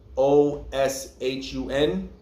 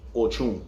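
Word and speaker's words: Ochún: The original, a lot of times, even in Lukumi, you'll see something in like Spanish text where Ochun may be spelled O-S-H-U-N, but it's still pronounced Ochun.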